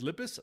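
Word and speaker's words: Lippes: It's spelled L-I-P-P-E-S. So it's Lip Mathias.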